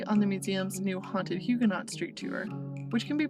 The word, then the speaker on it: Huguenot: let me clarify that i pronounce the word huguenot with the t as is the common pronunciation in english rather than the french pronunciation huguenot my pronunciation of names